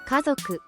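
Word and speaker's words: 家族: 가소크 가소크 가족 카조라고 발음하며 조는 타금입니다.이 또한 자행 발음의 중요한 예시입니다. 조를 목을 울려 발음해야 합니다.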